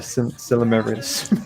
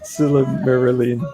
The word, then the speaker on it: Silmarillion: I've read the book and the Silmarillion. There you go. Well, tongue twister. Silmarillion. I got it right the first time. Silmarillion.